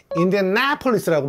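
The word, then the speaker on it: Indianapolis: 해야 될 거 같은데 어 걔네들은 액센트를 인디아나폴리스고 발음하는 거예요 인디아나폴리스 그래요 와 완전 다른네요네네 내 거기에 액센트가 들어가야 제대로 이해하는 거지 인디아나폴리스 이렇게 말하면은 못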